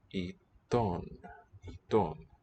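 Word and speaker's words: עיתון: Alright, and so the sound, iton. Okay, a short E from the look of it, ton. And O is just written with wow.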